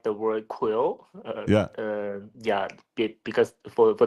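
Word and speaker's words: Qwen: just like the U so I just combine it together and create a new pronunciation called quill yeah so we're saying it's quen quill 32b is that the right pronunciation to say this yeah it's okay I we just call it Quil some something funny because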